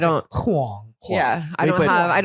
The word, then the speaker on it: Huang: what's it like being white with the last name Wang? Well, we're not married, Oh. so What we I pronounce it? don't. Huang.